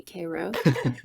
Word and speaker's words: Cairo: little tiny town called kro Georgia spelled like Cairo Egypt but they definitely say Koo of the surup makers